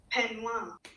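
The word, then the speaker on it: peignoir: our standards of convention pronunciation time penoil in look 46 the outerwear here is listed as a penoir which is usually a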